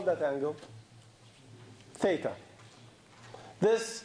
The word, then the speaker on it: theta: between them and if we call that angle theta this letter Greek letters we use a lot for angles and it's pronounced this thing is Theta okay now my